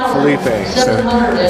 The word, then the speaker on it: Felipe: the top 10 and we've called this B phip phpp everything Philip yeah so just for tanil we're going to say it right Felipe Felipe is going to